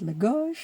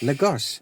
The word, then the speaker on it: Lagos: We heard it Lagos. Lagos. The English they say Lagos.